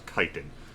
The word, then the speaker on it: chiton: Technically, I think you're wearing a chiton. With Meridan Flynn, I found a strange or actually I guess we pronounce kiten.